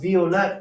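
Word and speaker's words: Violett: the pronunciation so because violet comes from french they adopt that pronunciation of the v so normally in german the v is pronounced like a f when it's in the front of a word or in the front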